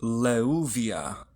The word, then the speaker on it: Leuviah: This Shem angel is Leuviah. Leuviah governs memory and intelligence. It is spelled in Hebrew, Lamed, Vav, Vav, Yod, He, Leuviah.